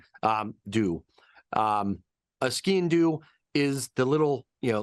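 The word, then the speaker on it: sgian-dubh: it's the it's basically ski and do means black knife um the way to remember it is like say like skiing but skiing do so you're kind of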